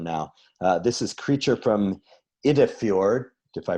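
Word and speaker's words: Iddefjord: This is Creature from Idefjord, if I pronounced that correct.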